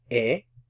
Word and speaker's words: he: have studied a lot remember the H is silent yo E estudiado mucho yo is